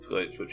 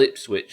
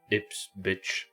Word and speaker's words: Ipswich: It's a place called Ipswich, as you can see up there, Mina, but Bielsa couldn't pronounce it, and there's multiple clips of him saying, Ips, bitch.